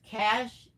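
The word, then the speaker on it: cache: Is that cashache? Pronounced cash. Oh, cash.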